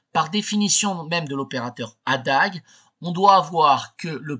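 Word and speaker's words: A†: AAG est l'adjoint de a donc ça se prononce Adag dans les calculs mais c'est l'adjoint de l'opérateur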